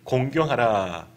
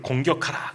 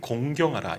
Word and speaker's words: 공경하라: 율법은 그렇습니다 내 부모를 공경하라 오늘 말씀의 제목이죠 발음 잘 하셔야 됩니다 내 부모를 공격하라 그냥 곤란한 거예요 내 부모를 공경하라 이게 율법이고 거기에서 그렇게